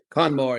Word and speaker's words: Conor Moore: Conor Moore, help me pronounce it. Conor Moore, yeah.